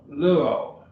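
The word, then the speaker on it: λύω: o omega blue o luo it's two syllables logo and so that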